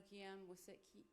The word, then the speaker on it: Kiyan: And I know Kiyan did I say it right? Kiyan, yeah.